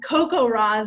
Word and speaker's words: CoCoRaHS: cracks me up so does anyone know how to say cocorahs is how a lot of people pronounce it but it stands for